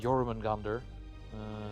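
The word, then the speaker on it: Jörmungandr: And heck, the Norse mythology itself had a lot of creatures like the Jormungandr, the or Jormungand, if you want to say it properly instead of the anglicized version of it.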